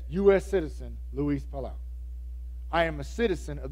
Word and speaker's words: Luis Palau: It's Luis Palau, I think is how you say his last name. No. Luis Palau.